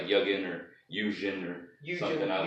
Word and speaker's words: Yugen: Yugen, you pronounced it right. We're off to a good start. Yeah, it's Yugen, and that was a shot in the.